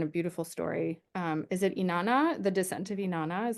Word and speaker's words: Inanna: Is it Inanna, the descent of Inanna? Is that how you Yeah, pronounce her name?